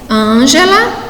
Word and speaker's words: Ângela: Então, aí nós temos como exemplo Ângela, lâmpada e metafísica.